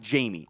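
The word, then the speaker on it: Jammie: overall uh Jamie Robinson I know it's spelled like jammy it's actually it is actually pronounced Jamie I like from that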